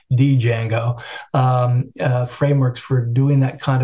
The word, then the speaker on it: Django: And there are various frameworks for that, like it's called Django. Of course, it's spelled with a D, Django, frameworks for doing that kind of programming.